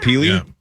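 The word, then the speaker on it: Pili: their first round pick from last year, Alyssa Peely. Is that how you say it? Peely.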